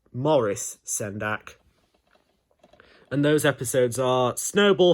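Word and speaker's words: Maurice Sendak: In The Night Kitchen I've always known it to be pronounced as Morris Sendak and those episodes are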